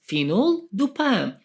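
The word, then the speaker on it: fenoldopam: called phenol dupam phenol pronounce it into Parts phenol duppam from its name phenol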